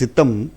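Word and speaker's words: Sitham: அது ஆக்சுவலி சித்தம், அவங்க சித்தாம்னு சொல்றது மலாய்க்காரன் ப்ரொனவுன்ஸ் அப்படி வருது.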